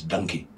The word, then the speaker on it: Dunki: donkey but uh uh the way a part of the country pronounces donkey in India is donkey the punjabis they said donkey so how much to